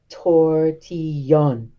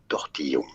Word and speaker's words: tortillon: Okay, officially it's called a tortillon.